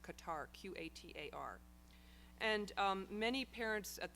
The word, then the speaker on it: Qatar: November, and I was in the country of Qatar, Doha, Qatar, which sometimes in the States is pronounced Qatar, Qatar.